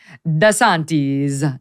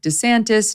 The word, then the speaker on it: DeSantis: he points out that the proper Italian pronunciation would be dasantis desantisantes but a lot of Italians make it a little bit more Americanized and Mike could just go with DeSantis no one really knows